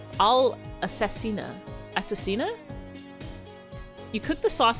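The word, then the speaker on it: all'assassina: It's not how you pronounce that. Spaghetti all assassin is all assassina.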